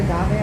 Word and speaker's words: agave: aav another aave another Agave Americana I little prickly pear over there little tiny one yeah you said a go I heard you you know what I meant you pronounced it incorrectly you know what I